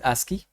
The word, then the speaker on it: ASCII: code for information Exchange it is uh pronounced as ASCII so various forms to